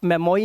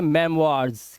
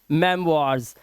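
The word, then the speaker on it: memoirs: अब देखो ओ आई के बाद आर है तो इसे आप मेमोई नहीं पढ़ेंगे। इसे पढ़ेंगे मेमार्स। क्या पढ़ेंगे? मेमार्ज।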